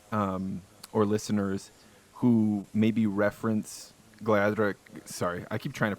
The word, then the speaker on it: Gleadhraich: Do you ever feel like you encounter crowds or listeners who maybe reference Gleadhraich? Sorry, I keep trying to pronounce the name of the band right.